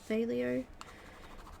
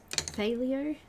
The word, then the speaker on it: phthalo: Phthalo. It's spelled P-H-T-H. Phthalo.